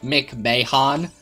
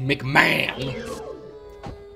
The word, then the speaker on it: McMahon: surname McMahon I didn't I didn't realize it was like McVeigh Han and that was how you pronounced it I spelled it I thought it was literally just McMahon okay wait get